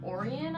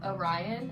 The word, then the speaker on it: Orion: boy i don't know how to say his name orion i would say orion actually it's orion because he's named after a constellation so then this is